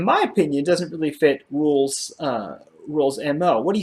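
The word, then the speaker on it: Rhule: is it rule design you say it like it's rule right yes cousins was ja Rule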